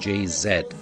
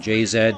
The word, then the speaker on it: Jay-Z: of Destiny's Child and jayzed of sorry I'm being told it is JayZ Beyonce and JayZ but it's spelled JayZ okay we'll go with Jay-Z Beyonce and Jay-Z apparently my Canadian is showing to the right of